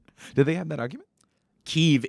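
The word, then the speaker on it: Kyiv: they have that argument keeve is the ukrainian name that's why we call it kiev like since the fall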